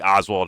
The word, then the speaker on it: Oswald: you up Lee Lee Harvey Oswalt? He almost said it wrong. Because of Candace. I've been working on saying it. Lee Lee Lee Oswald Harvey.